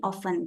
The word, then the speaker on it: often: Biasanya ini juga kata often itu dibacanya mungkin often gitu ya, nggak pakai T.